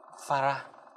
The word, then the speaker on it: farad: Thì đơn vị của tụ C là chữ F, đọc là Farah.